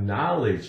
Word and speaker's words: knowledge: I have knowledge of something, which also, knowledge begins with K-N. So, keep in mind, the K is silent in words that begin with K-N.